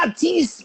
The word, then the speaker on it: artiste: So the pronunciation for it is Mm-hmm. artiste, artiste.